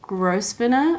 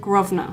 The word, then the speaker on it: Grosvenor: after Selfridges we made our way to Grosvenor Square and I made sure that I looked up how to say that because I thought it was pronounced grow spinner or gross wiener or something square because it's felt like it's